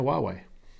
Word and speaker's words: Huawei: huawei see greg i'm saying it right now huawei another thing that you've taught me um telephoto